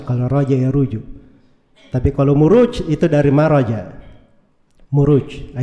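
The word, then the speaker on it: مروج: dari Raja Ya ruju itu bukan mirwaj bacanya harusnya marwaj sebab bukunya kan setelahnya wa maadin aljauharah itu kalau di bahasa Arab gak dibaca mirwaj tapi dibaca muruj jamak dari marjun maraja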